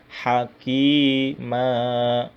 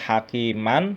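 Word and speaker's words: حكيما: Hakima, tidak hakiman tapi hakima ya.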